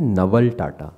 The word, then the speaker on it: Naval Tata: You'll say Naval Tata.